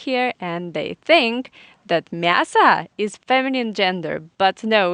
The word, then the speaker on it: мясо: we have genders, and мясо, it means meat, is a very tricky word. It finishes with the o, but it is in unstressed weak position, and we pronounce this word as мясо.